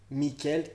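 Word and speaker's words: Mikkel: Il recherche son fils Michael, je crois que ça se prononce vraiment Michael en plus, on va pas se mytho. M-I-2-K-E-L, Michael, quelque part.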